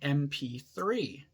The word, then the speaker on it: MP3: e sound so although the first letter in mp3 is a consonant the first sound is actually a vowel sound so we say an mp3 but yeah the most